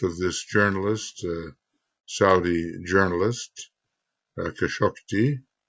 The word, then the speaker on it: Khashoggi: All of the lying going on around the apparent death of this journalist, Saudi journalist, Khashoggi, however you pronounce that, I think Those who have researched, I think it's Khashoggi.